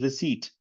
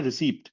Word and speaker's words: receipt: yeah so this is receipt don't say receipt p is silent okay can you pronounce